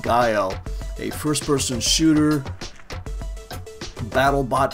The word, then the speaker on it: GEIO: so this is expelled GE IO pronounced guile a first-person shooter battle